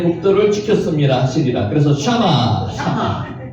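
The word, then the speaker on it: שמע: 그때가 쉐마입니다. 쉐마 이스라엘 할 때 쉐마라 그러죠. 실제 단어를 발음할 때는 샤마라고 발음합니다. 샤마.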